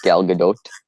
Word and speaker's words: Gal Gadot: It's actually more the T is pronounced. It's more like Gal Gadot, something like that.